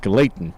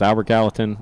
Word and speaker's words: Albert Gallatin: i was i was going to say it's pronounced glayton no but it's albert gallatin uh mountains of uniontown that one was high